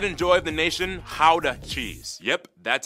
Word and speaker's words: Gouda: And the pride and joy of the nation, Gouda cheese. Yep, that's how you pronounce it, guys. Oh, and keep in mind, they use. I eat Gouda cheese.